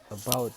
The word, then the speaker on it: about: About itu yang stresnya terdapat pada silaba kedua.